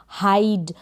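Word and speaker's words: hide: यहाँ पर हो गया कि आई फिर कॉन्सोनेंट लेटर है, फिर लास्ट में ई है, तो यहाँ पर इस आई का प्रोनाउंसिएशन आई होगा।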